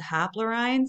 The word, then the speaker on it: haplorhines: So we have the haplorhines and the strepsirhines. That's how that's pronounced.